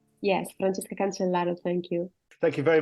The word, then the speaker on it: Francesca Cancellaro: Francesca Cancellaro, have I said it right? Did I say it correctly? Yes, Francesca Cancellaro, thank you.